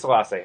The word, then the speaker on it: Selassie: you said yes Allah say it is Selassie oh that's it all